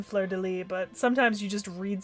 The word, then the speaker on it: Fleur-de-Lis: I do know that the S is silent in Fleur-de-Lis, but sometimes you just read something and your brain just auto-processes the whole sound.